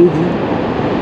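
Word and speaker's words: Lévis: l'île d'orléant au fond c'est Levis ça s'écrit Levis ça se prononce Ly là-bas tout au fond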